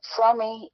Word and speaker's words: Fromme: There are Fromme, I believe, is a Yiddish or German, I mean, a Jewish pronunciation without the E, and at least that's what I've been told.